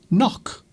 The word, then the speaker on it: knock: So in words such as knock. Well, the last letter is not silent, but the first letter is in the word knock. Knife.